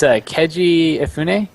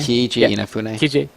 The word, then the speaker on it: Keiji Inafune: So the creator of Mega Man, it's Keiji Ifune. Is that how you say his name? Keiji Inafune.